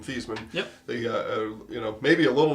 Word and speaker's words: Theismann: In his senior year, they changed the pronunciation guide to say Theismann, and Theismann for Heisman.